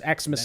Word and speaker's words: Xmas: It's established that Christmas is now pronounced Xmas and ask is now pronounced ax.